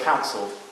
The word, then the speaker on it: counsel: So, for example, on verse 4, we see the word counsel. So, which syllable is emphasized? Count, that's right.